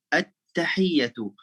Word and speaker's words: at-tahiyyatu: Nah, dan kalau alif lam dalam bahasa Arab, kalau kita mulai percakapannya ya, atau kata pertama di dalam percakapan itu atau dalam kalimat itu mulai dengan alif lam, itu selalu bacanya a ya, a.